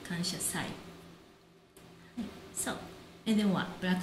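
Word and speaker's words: 感謝祭: But we pronounce kanshasai, not kansha matsuri, kanshasai.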